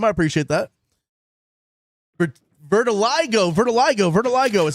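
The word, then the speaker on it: vitiligo: Vertiligo is how you say.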